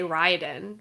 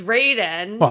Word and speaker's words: Raiden: I in Mortal Kombat I always want to say Ryden, right? But no, it's it's Raiden.